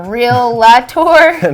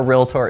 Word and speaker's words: REALTOR: sarah did you know the correct way to pronounce our title is realtor wait it's not realtor or real latour no it's realtor and the definition of a realtor is a person who